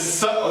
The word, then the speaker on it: Southwark: It's Southwark. Southwark? Yeah. Where's That's how that? you pronounce that.